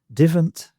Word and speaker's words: divent: Um, the ones I've got particularly in mind are gan instead of go, war instead of our, divant instead of don't, and a instead of I.